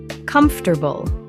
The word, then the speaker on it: comfortable: Comfortable. Only 3 syllables in natural speech, not 4. Pronounced comfortable.